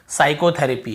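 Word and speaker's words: psychotherapy: एस से पहले पी आए तो पी साइलेंट होता है।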